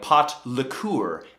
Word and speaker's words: pot liquor: of them call for pot liquor l i k k r as in like pot lure as in liquid so when you're boiling